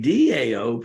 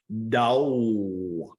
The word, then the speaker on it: Tao: He could have said, I am the Tao. All right? Pronounced T-A-O, but it's pronounced, D-A-O, spelled T-A-O, Dao, Dao.